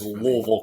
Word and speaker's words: Louisville: definition it said it said Louisville pronounce it like you've been drinking our bourbon you know it's like so if you have it's like slur it it's Louisville Kentucky and so from